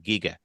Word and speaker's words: Giger: away but there was like how do you pronounce it he goes AA Giga all right there you go with his big